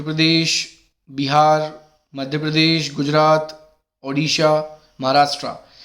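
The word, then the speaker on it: Odisha: और देखिए स्पेलिंग पर भी ध्यान दीजिए, अब उड़ीसा नहीं है, अब इसका नाम ओडिशा है और ये काफ़ी पहले चेंज हो चुका है, तो इसकी प्रोनाउंसिएशन भी आपकी सही होनी चाहिए।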